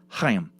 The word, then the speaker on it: Chaim: Chaim Weitzman's first name and mine is pronounced Chaim, with a sort of throat-clearing sound at the beginning.